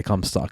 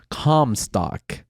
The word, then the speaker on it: Comstock: Don't say cum stock. And I was like, I'm trying to like, how do you say it? And I thought about .com. I was like, okay, Comstock. Yeah. I'm just going to go Comstock. And then I finish my